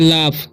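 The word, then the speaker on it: laugh: लाफ, इसे पढ़ते हैं लाफ, क्योंकि जीएच का उच्चारण यहाँ पर फ हो रहा है, ठीक है, तो लाफ।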